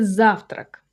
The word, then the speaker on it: завтрак: The next one will be завтрак. Завтрак. That's breakfast. For example, завтрак готов. Breakfast ready. This is a two-syllable word, завтрак, with a stress on the first syllable, clean and simple.